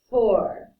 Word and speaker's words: fort: If you are a boy, you're going to pronounce this for.